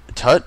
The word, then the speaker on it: Tut: Wouldn't it be pronounced toot? Tut?